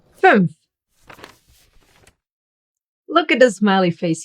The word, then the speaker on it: fünf: Fünf. Look at the smiley face here. Ü How to pronounce that?